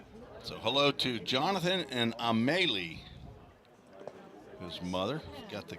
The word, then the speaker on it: Amelie: So hello to Jonathan and Amelie, his mother. Got the correct pronunciation of A-M-E-L-I-E, Paul.